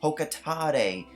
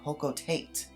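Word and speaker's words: Hocotate: to the comments saying it's pronounced Hokatade, not Hokotate. And well, frankly, I don't think the pronunciation of Olimar's home planet was actually revealed until Super Smash Bros.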